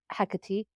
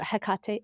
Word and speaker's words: Hecate: meaning maybe similar to Hecate or Hecate. How do you say it? I say Hecate, but it's Hecate. fine either way.